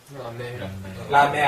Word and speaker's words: mer: 말 할 때 , 끝 에 자음 이 있잖아 요 ... 특히 'r' 처럼 끝나는 자음 은 발음 해야 하니까 안 할 수가 없어 요 . 'e' 소리 를 내 야 해 요 , 그러니까 "mer" 처럼 요 .